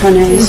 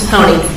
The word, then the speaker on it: Hone: Am I saying that properly, Ms. Hone? Honey. Honey. Yes. Okay. You're all saying it wrong.